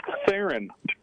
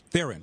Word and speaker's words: Theron: It's pronounced Theron. Theron. Okay, I did it right.